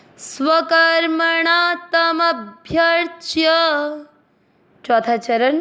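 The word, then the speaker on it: स्वकर्मणा: चरण को वापस ध्यान से रिपीट करते हैं स्व कर्मणा तम अभ्यर्थना चरण सी मात्रा के अंदर आधा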